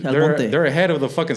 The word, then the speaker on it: El Monte: Yeah, Yeah, say it right. Not El Monte, El Monte.